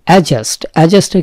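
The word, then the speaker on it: adjust: অ্যাডজাস্টের ক্ষেত্রে খেয়াল করবেন, অ্যাডজাস্টমেন্ট আমরা জানি অ্যাডজাস্ট হচ্ছে না, কিন্তু এখানে যেটা খেয়াল করা সেটা হচ্ছে ডি এর উচ্চারণটা অনেক সময় উচ্চ থাকে, যেটাকে সাইলেন্ট বলে, সাইলেন্ট ওয়ার্ড।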